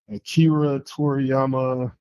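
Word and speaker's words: Akira Toriyama: Akira Toryiama, please forgive me if I'm pronouncing his name wrong.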